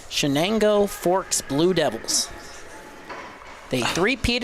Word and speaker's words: Chenango: and we had to double-check the pronunciation. Chenango Forks Blue Devils.